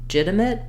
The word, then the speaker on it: legitimate: do legitimate or legitimate you really just want not a clear vowel But A reduced vowel there one way to get that to happen more naturally for you with the pronunciation and the rhythm is just to start on the stressed syllable that would sound like legitimate legitimate legitimate so you